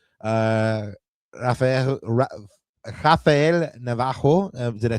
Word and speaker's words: Rafael Navarro: Rafael Rafael Navarro, did I say it right this time, Ananda?